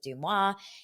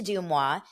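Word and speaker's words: Deuxmoi: talked all about my behind the scenes with dumwa and what that what that went into like what went into that episode for those of you that are new to dumwa I'm gonna spell it out one more time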